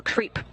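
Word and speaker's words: KREEP: have a weird component that we call creep and it's spelled k r e e p and Central potassium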